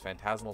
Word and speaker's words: Phantasmal: Phantasmal starts with a silent P.